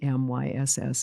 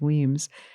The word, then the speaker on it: Wemyss: It's Wemyss, and that's pronounced Weems.